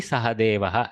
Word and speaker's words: Sahadeva: Pandaveshu panchamaha asti sahadeva. Accent is sahadeva, so he goes to the end nicely.